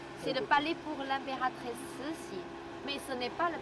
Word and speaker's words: Cixi: On se prononce C-I-X-I comme Cixi. C'est pas Sissi, hein?